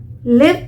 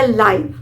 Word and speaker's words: live: एल आई वी ई अब इसे आप लिव प्रोनाउंस करेंगे या लाइव दोनों ही प्रोनंसिएशन इसके बिल्कुल सही है लिव और लाइव लिव